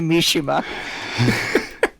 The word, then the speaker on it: Mishima: It's actually Mishima. All right. Is everybody ready? Are we good? Only if Yes. you pronounce things right.